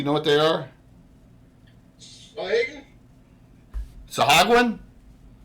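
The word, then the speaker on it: sahuagin: Sahagwin? It's a hog one. Hogwood. I never did know how to pronounce those. Well, according to Troy, it's Sahagin. Sahagin. I always said Sahagwin.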